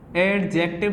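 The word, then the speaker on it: adjective: तो इसे मैं बताना चाहूँ, यहाँ डी आपका जो है वो साइलेंट रहता है, तो इसे एडजेक्टिव नहीं एडजेक्टिव या एडजेक्टिव पढ़ते हैं।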